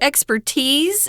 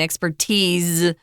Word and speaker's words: expertise: The expertise, and that's pronounced with a Z sound, expertise, not an S. Although I have seen some dictionaries that say that S is okay too. Expertise. Most people say expertise.